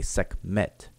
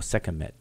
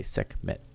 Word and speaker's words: Sekhmet: her name, we say Sekhmet because of the T. We don't say Sekhmet or Sekhemet. We just say Sekhmet because it's 2 syllables, or keep it 2 syllables.